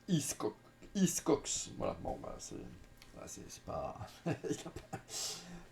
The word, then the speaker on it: Hickox: hein c'est voilà Anthony iscock à ne pas le confondre avec alfredcock alors un réalisateur avec lequel j'ai toujours eu un petit souci du coup pour la prononciation voilà c'est iscx voilà bon c'est c'est